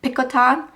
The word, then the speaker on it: Picotin: is the ATS Pon we call it the picotin but I think the French way to pronounce this is picon and uh this is